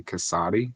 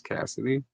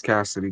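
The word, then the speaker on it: Kasady: So I heard somebody say Cassati for the first time. I had never heard it pronounced like that. I'm pretty sure it's Cassidy, but it fucked me up.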